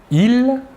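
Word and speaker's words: ils: Tout d'abord, le masculin, « il », la S finale ne se prononce pas, et le pronom personnel sujet féminin de la troisième personne du pluriel est « elle ».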